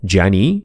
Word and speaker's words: Canik: odchodzimy od głównego wątku dla mnie już zawsze będzie to Kanik nawet jeśli turecki minister poprawności stwierdzi że w ichniejszym dialekcie poprawna wymowa to Dziani Ja już się nie ugnę